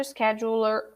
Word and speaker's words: scheduler: schedule planner sched master scheduler okay i'll trust that it's it's right okay master scheduler also one more time see the first letter is the s we don't say e scheduler you're supposed to say scheduler master scheduler